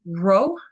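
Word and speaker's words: rho: math this one's fun row is the r r uh has a bit of a aspirating sound to it as well so it's usually an RH sound uppercase is a p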